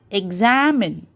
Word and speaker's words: examine: humid similarly second one examine examine okay am is stressed so this is called